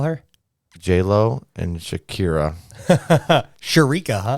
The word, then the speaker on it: Shakira: J-Lo and Shakira. Sharika, huh? Sharika, dude, yeah, that's what I thought her pronounce it. How to pronounce it when I was a kid.